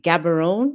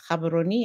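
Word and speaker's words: Gaborone: Most folks like to say Gabberon. It is not Gabberon. It is Cababaroni.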